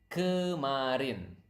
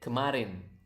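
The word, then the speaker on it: kemarin: let's start with yesterday how do you say yesterday it is Karin okay again repeat up to me so that you can pronounce the word correctly Marin natural speed Karin Karin okay that's yesterday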